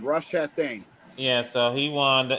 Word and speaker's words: Chastain: Also over uh over in NASCAR uh Chest. Uh I know I know I butchered his name. Ross. Yeah. Ross Chastain. Ross Chastain.